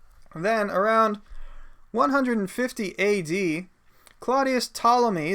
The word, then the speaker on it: Ptolemy: around 150 AD Claudius Ptolemy the P is silent Ptolemy's use diagrams in